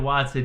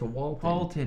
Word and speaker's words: Walton: Nigel Watson, yeah. What up, dude? New Zealand, let's go. It's Walton. You said his name wrong for a year and a half.